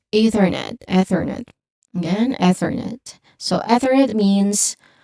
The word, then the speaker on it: Ethernet: Next we have Ethernet. Ethernet. One more time. Ethernet. There's a soft unvoiced th sound here. Excuse me for that. I'm sorry. Going back. It's Ethernet. Ethernet again.